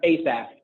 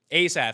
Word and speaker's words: Asaf: Yeah, so down here you have, it's Asaf, that's how you pronounce it? Not Asaf? No, it's Asaf. Asaf.